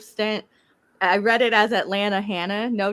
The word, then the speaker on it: Atlanta: I heard somebody else say it, I said Atlanta. Atlanta. It's right. I grew up in Jacksonville, Florida, so I'm from the South, and you're right. You don't pronounce the T all the time.